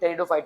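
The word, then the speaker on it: Pteridophyta: और लीव्स देवर टेरिडोफाइटर इसका प्रनंसीएशन मत बोलना इसको हम टेरिडोफाइट्स है बोलेंगे प्लीज साइलेंट राहत है टेरिडोफाई का जिम और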